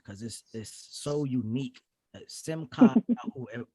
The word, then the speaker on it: Simchah: this is so unique simcon are we saying it correctly you said it correctly all right absolutely but